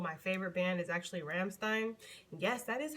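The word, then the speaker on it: Rammstein: favorite band is actually ramstein yes that is how you pronounced it that is how they pronounce their name ramstein for those that want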